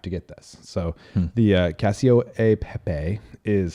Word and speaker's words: cacio e pepe: So the Cacio e Pepe is how they actually pronounce it. In America, we just say Cacio Pepe.